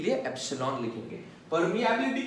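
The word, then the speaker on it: epsilon: अभी इसको हम लोग pronounce करते हैं एप्सिलॉन। ये E जैसा जो दिख रहा है ना इसको क्या बोलते हैं एप्सिलॉन।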